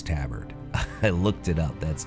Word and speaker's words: tabard: I know it's Tabard. I looked it up. That's the correct American English way to pronounce it.